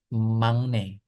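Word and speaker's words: 막내: agak unik gitu ketika si huruf K atau G biasanya ya ketemu N itu nanti dilafalkan jadi eng gitu ya. Mungkin kalau teman-teman yang muslim tahu seperti tajwid gitu itu ada seperti kayak gitu pelafalannya mang bukan makna. Jadi ee teman-teman juga kalau mungkin teliti dengerin percakapan orang Korea itu dibacanya mangne.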